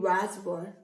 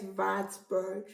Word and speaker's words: Wartburg: So this Wartburg, I noticed Germany does not pronounce the W as W, they pronounce it as V. So if I should pronounce this stuff in English, I'll be saying Wartburg, but in German it's Wartburg.